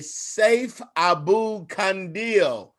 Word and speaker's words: Saif Abu-Kandil: Ladies and gentlemen, I told you I had my friend on today, Saif Abu-Kandil is how you say his name, but we